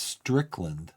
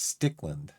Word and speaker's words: Stickland: I was pronouncing this Strickland, I think. It's Stickland.